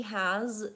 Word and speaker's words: has: So actually, that's a great question, but he has, actually the word has also has a Z sound. So that's one of those common words that's spelled with S, but the S actually says Z in that word.